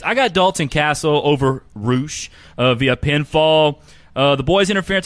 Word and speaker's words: Rush: Say it Spanish. Well, if they'd spell it Roosh, I'd probably say Roosh. That's not Spanish. That would just be erroneous. Yeah, how many times? How many times I've told him Roosh?